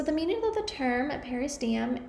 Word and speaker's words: periosteum: The pronunciation of the term is periosteum.